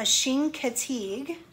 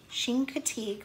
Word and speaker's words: Chincoteague: some pronunciation can you say that big word pronunciation so it tells you how to say it so it's actually called a Chincoteague Chincoteague pony or Assateague pony so I said the